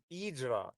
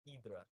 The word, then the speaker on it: Hydra: Portuguese is their H's are kind of like silent so it's Eedra.